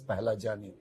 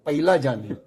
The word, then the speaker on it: Pahlajani: From there, our surname has come as Pahlajani. But somehow the people who hear my surname, they either misspell or mispronounce. I'll give you some example. Somebody call me Pahlajani. Simple. Very simple. I could tolerate that. Somebody used to call me Pailajani. Somebody call me Paglajani.